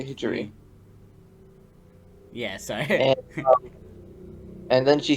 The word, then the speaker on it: Hijiri: just for a note it's hijiri hijiri okay hijri yeah sorry and then